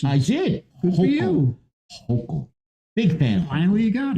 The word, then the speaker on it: Hochul: this too, and I'm a big fan of Hochul. Hochul? You pronounced your name right. Congratulations. I did. Good for you. Hochul.